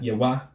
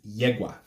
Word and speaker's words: Yewa: geez instead of 1g the emphasis being on the first yeah it's not yeah why her name is not yahwah it's not get why it's yeah why it's yegua the G in the